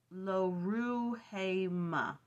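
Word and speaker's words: Lo-ruhamah: then he has a daughter pronounced LaRue hey Ma meaning uncompassioned um Hosea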